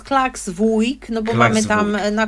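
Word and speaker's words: Klaksvík: mówię jeszcze jakoś inaczej niepoprawna poprawna nazwa to jest klaksvik No bo mamy tam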